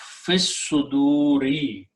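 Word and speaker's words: في الصدور: And you pronounce fis suduri, in the chests, in the breasts.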